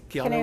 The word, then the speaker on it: Keanu: Keanu Reeves? Yeah, how do you say it? Keanu Reeves.